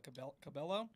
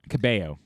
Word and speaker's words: Cabello: gyllenhaal musical guest camila cabello cabello cabello yeah camila camilla castellano it's weird because she pronounces the l's in her first name but not in the second there's only one l